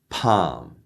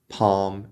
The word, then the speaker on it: palm: say it that said the majority of the english- speaking world will say these words without the L in it so I'm from Australia